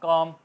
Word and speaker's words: calm: अगर आ जाए M से पहले तो L साइलेंट हो जाता है। कॉम, please काम down, काम down, नर्म हो जाओ,